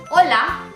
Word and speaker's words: hola: in Spanish language okay so when you say hola can you repeat after me hola the response